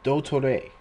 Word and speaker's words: Dottore: So it's you only pronounce one of the T's and you don't pronounce the E. So Dotore, like doctor.